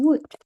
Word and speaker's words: would: Ya, correct me if I'm wrong, tapi harusnya dibaca could. Sama juga dengan teman-temannya, ini bacanya should, jadi L-nya hilang. That is English. Kadang dia membingungkan, ditulisnya L, dibacanya L-nya hilang gitu ya.